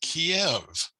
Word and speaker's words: Kiev: All right, so Kiev. Now that's the Russian pronunciation for this city.